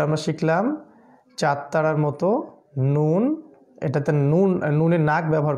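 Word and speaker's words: نون: আর নুন উচ্চারণ করতে গেলে নাকটা ব্যবহার করতে হবে, নুন, নুন, নুন। ঠিক আছে, মূলত নাক বন্ধ করে ফেললে নুন উচ্চারণ করা সম্ভব হবে না।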